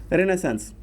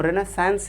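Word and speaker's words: Renaissance: However the flow of रेनेसेंस, पहला इसे हम रेनेसेंस ही बोलते हैं, इवन इफ हिंदी में इसे रेनेसां लोग लिखते हैं, लेकिन जो जनरल प्रोनाउंसिएशन है वो है रेनेसांस।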